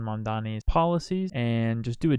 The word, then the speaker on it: Mamdani: Zohran Kwame Mamdani.